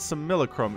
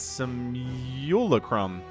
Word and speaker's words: Simulacrum: Somebody told me how to say the map name, and it's not Simulacrum. It's Simulacrum. Simulacrum? Something like that. There's like a U in there.